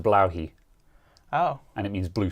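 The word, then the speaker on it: Blåhaj: the the Ikea shark that everyone just calls blah it's actually pronounced bloi oh and it means blue shark in in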